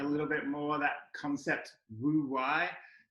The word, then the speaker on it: wu wei: bit more that concept woo why w-u-w-e-i you're actually meant to say it ooh why but you know uh us white people can mispronounce things willfully at any point um emily can we